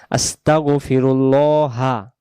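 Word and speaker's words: أستغفرُ الله: আস্তাগফিরুল্লাহা। আস্তাগফিরুল্লাহা। এখানে আল্লাহ শব্দের ডানদিকে পেশ থাকার কারণে গ্রামারের নিয়ম হলো আরবি লামটাকে ল এমন হবে। মোটা হবে।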